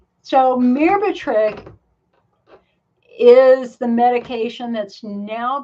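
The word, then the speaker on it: Myrbetriq: um and let me just let me just spell it for you it's m-y-r-b-e-t-r-i -q so mirbatrick is the medication that's now being prescribed for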